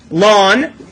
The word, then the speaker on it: ln: to write e down Ln how do we pronounce it lon what base is that